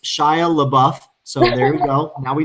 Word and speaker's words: Shia LaBeouf: but she has no interest dustin says it's pronounced shia labeouf so very well now we know now always